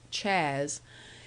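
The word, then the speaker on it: Chas: Soul Mr Charles salmond whom everybody called Chaz pronounced Chaz a good Soul who was a little tiresome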